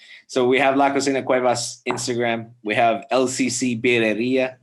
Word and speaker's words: Cuevas: the name of your company because i can't pronounce it so la cocina cuevas my last name is cuevas cuevas the kitchen so the kitchen of cuevas